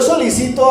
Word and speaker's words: solicito: La Paz cuando yo Solicito algo estoy pidiendo algo pero este solícito tiene una tilde en otro lado y se pronuncia diferente Ese solícito es que